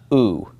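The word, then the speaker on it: ου: the omicron epsilon, and that's just pronounced oo, oo. That makes your oo sound, okay?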